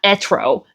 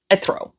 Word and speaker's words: Etro: But it's not Etro, it's Etro.